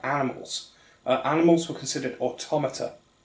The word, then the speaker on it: automata: uh animals were considered automata which is the correct way to pronounce that word for all those people who have played near automata and don't realize that automata not automata while we're at it